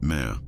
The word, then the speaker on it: me: Consider the concept of the mi pronounced meh.